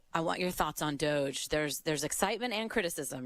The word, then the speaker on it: DOGE: well first and foremost I was hoping it would be pronounced doggy but I guess it's Doge that's what I'm there